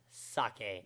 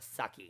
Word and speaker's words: sake: any comments about it it is in fact pronounced sake not sucky you can argue that oh it ends with